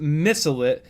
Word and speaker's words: Mycelit: Mycelit FPV says, my name is pronounced Missilit, a mix of the words mystic and pilot.